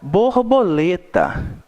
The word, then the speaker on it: borboleta: Borboleta. Qual foi a sílaba que nós colocamos uma intensidade maior quando nós estamos pronunciando? Lê, né? Então, borboleta.